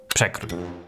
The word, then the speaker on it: Przekrój: We start with P. Nothing special here. Your normal P. Parrot, portrait, przekrój. Then we have RZ, which in Polish is a single sound. Sh. Like in a word, fish or shot. E. That's an easy one. Pronounce it as in the word egg or hen. Let's move on to... Kr, like in crow, but with a rolling rrr.